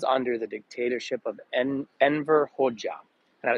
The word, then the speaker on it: Hoxha: and that was under the dictatorship of Enver Hoxha. And it's spelled with an X, but pronounced Hoxha.